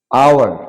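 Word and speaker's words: hour: আওয়ার, এখানে ও থেকে শুরু হবে, আওয়ার মানে ঘন্টা, এখানে ও থেকে শুরু হবে।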